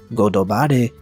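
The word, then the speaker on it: ゴッドバレー: In Japanese, God Valley is pronounced as Godobare, and it translates to Godo meaning God and Bare meaning exposed.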